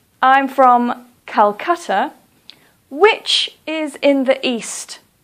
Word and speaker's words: Kolkata: please say Hanoi or for example Kolkata please don't say Kolkata please say Kolkata the reason that we